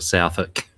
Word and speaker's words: Southwick: ] South Park or Southwick interesting or gaffer says the the W is silent oh okay like like